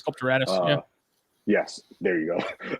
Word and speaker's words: sculpturatus: Sculptotarsus. Sculpturatus.